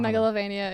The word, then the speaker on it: Megalovania: Isn't it pronounced like Megalovania? I don't know. Megalovania is correct.